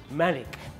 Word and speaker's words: Manik: I'm Manik. It's pronounced Manik.